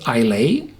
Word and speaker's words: Islay: true man from Isa so it's uh spelled ilay but it's pronounced Ila and the are the natives from